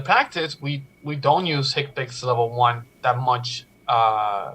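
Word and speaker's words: HCPCS: understand that Healthcare common procedures coding system or hick picks is pronounced take pics or we want to pronounce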